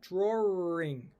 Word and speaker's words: drawing: So drawing, I would normally pronounce it like that, drawing, with a between the or and the ing.